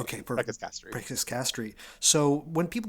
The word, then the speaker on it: Preces Castri: Preces Castri. I prefer the classical Latin pronunciation. Okay, perfect. Preces Castri.